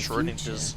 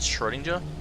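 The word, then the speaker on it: Schrödinger: Your Oh, that's how you pronounce actions it. in the Schrodinger's. future decided who would be inside the armor in the past. I've always pronounced it Schrodinger.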